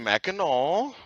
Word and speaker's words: Mackinac: And so it's actually Mackinac.